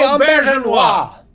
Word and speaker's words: Auberjonois: All right, so the Hippocratic Oath was directed by none other than René Auberjonois.